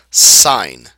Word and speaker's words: sine: say trig ratios right the first one is pronounced sign okay it's pronounced like the word si GN